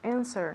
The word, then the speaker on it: answer: the answer the answer answer answer yeah the w silent okay answer who else